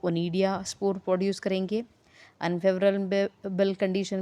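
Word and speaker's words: Conidia: सी इज़ a silent over here.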